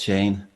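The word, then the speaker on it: Séan: so it's Sean, and my name has an accent on the E, so it's Shane.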